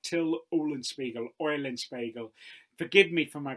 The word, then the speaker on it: Till Eulenspiegel: Now, in German, his name is pronounced something like Till Eulenspiegel.